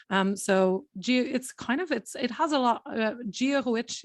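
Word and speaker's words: Dia dhuit: Giahuich is how you say good morning or good day. Jewish? Giahuich. Jewish. So Giahuich, that's right.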